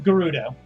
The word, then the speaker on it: Gerudo: Gerudo. Okay. With hard G. Hard G.